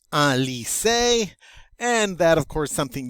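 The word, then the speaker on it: lycée: go next up is a lise remember y is considered an i it's pronounced like an i the e with the excellent egu over it is always pronounced a therefore we get ali say and that of course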